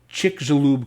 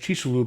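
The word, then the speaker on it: Chicxulub: i butchered this name it's known as the chick zulub crater chi salute i think is a closer way to pronounce it the impact was first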